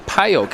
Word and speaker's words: Pajok: Daria Pajok is how you pronounce that last name, though.